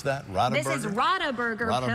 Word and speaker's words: Radeberger: How do you pronounce that? Radeberger? This is Radeberger Pilsner. Radeberger.